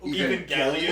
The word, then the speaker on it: Evangelion: It's actually pronounced Evangelion.